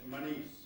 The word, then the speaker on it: Muniz: Muniz. Muniz. Muniz, I got it. Got it. Muniz. Am I saying it wrong, Jim? It's Manice. Muniz. Okay, not Mew, Mun.